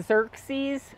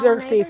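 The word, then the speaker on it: Xerces: And if you are really looking for a good one, if any of you heard of the Xerxes Society, strange word.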